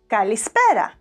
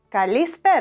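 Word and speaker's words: καλησπέρα: Kalispéra, Kalispéra.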